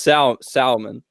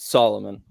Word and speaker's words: Salomon: It is Salomon, not Solomon.